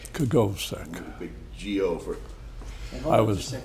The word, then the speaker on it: Kogovsek: Kogovsek. Kogovsek.